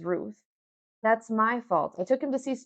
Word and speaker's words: Ruth: Ruth, American stylized name, Ruth. In Spanish, it sounds like root.